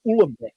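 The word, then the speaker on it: Uhlenbeck: And so I can with great authority pronounce the names of the two people who introduced that. That's Goudsmit, Yeah. Goudsmit and Ulembeck.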